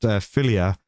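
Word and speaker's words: Fillier: Saying there's a player in Canadian women's hockey team in the Olympics who's last last name is Filla, pronounced Fillia.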